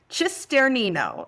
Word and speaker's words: Cisternino: It took me a little while to learn to pronounce it correctly. Cisternino.